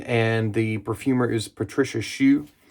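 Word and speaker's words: Choux: the perfumer is Patricia Shu not Pate Shu but shu is spelled the same way C hux um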